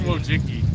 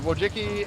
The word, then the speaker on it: Wojcicki: Susan Wojcicki. Susan Wojcicki. Wojcicki. How do you spell it?